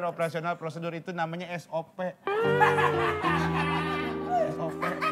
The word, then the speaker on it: SOP: SOP, bukan sop. Dibacanya S-O-P. Sop.